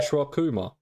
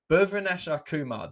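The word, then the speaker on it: Bhuvneshwar Kumar: Bruvi, I'm going to say Buvy now because I can't. I'm terrible. Bhuvaneshwar Kumar. Bhuvaneshwar Kumar. There we go.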